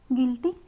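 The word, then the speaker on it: guilty: गिल्टी, यहाँ पे भी हमारा यू साइलेंट है।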